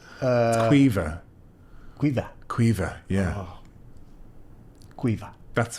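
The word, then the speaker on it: Caoimhe: How would you pronounce that name? Call me. No, it's a good attempt. Have you come across it? It's Quiva.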